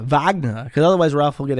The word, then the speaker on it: Wagner: It's important that when you say Wagner, you say it like Arnold Schwarzenegger. Wagner, because otherwise Ralph will get angry at you.